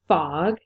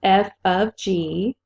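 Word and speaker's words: f∘g: This is not pronounced fog. It's f of g.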